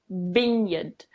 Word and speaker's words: vineyard: the vineyard or vineyard vineyard so it's with a bin at the start a lot of people say it as a vine yard which I guess it